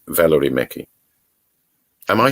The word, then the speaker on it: Mekki: but it's the last word uh it's valerie mickey am i saying it right your name yeah yes yes valor mickey what's the first thing